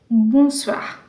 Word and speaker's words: bonsoir: Bonsoir. Wherever you see O and I together, the sound that comes is wa. So you will say bonsoir.